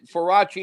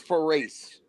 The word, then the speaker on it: Faraci: Again, Faraci is the correct way to say it. We Yeah. always called him Gus for race.